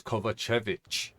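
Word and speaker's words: Kovačević: delivery kovic it's cuz I says his name wrong it it's kovachevich I don't know why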